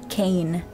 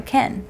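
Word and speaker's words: Kehn: I think his third book, he goes Kane. And I was like, is it Ken or is it Kane? How is this spelled? It's spelled K-E-H-N. So Ken.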